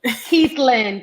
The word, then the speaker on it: Keithlin: pronouncing your name right it's like the man's name so keith and then caitlyn caitlin it's beautiful so